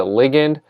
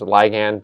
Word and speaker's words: ligand: molecule known as a ligand sometimes pronounced as ligand but I prefer the term ligand so this is the